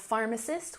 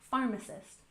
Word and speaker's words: pharmacist: And next we have pharmacist with emphasis on the first syllable. Pharmacist.